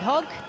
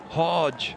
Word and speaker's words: Hogg: And I'd go, Hodge, Hodge, Hodge. And when Brad was playing, they'd go hog, hog, hog. And Shivarama Christian, I was on the commentary with him, and he's going, some of the Indian pronunciations you don't get right, Hoggy.